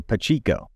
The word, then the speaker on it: Pacheco: been messaged at that I've been consistently saying it wrong so pachico I have like cheeks all right so we're